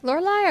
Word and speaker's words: Lurai: Do you pronounce like Lurai or Lurle? It's Lurai.